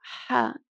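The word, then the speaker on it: حاء: Now, it's not like the other Ha that we saw that is written like a normal H. This Ha is a strong Ha.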